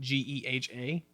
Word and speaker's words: GEHA: They actually want you to pronounce it Geha.